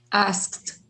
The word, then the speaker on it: asked: say involved ah involved asked with a t sound asked okay that's the reason